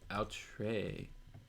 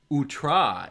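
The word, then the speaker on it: outré: what is what is out trey unusual and startling utra is how it's pronounced okay got it now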